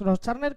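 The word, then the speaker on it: Großschartner: Luego ya me dijeron cómo se pronuncia. Y sí, Félix Groschartner, que no sé si le vamos a poder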